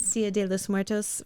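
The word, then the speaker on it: Día de los Muertos: And it's from the how do you pronounce Dia de los Muertos? Dia de los Muertos festival.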